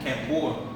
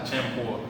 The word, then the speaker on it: campur: Campur. That's how you say it. Champur.